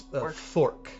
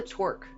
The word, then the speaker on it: Thorque: Torque is spelled. No, it's Thorque. Thorque is Throque. So the Thorque brothers. The Thorque brothers. Your torque.